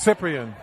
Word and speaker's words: Cyprian: It's Cyprian. Yeah. You have it. That's a P and not a B.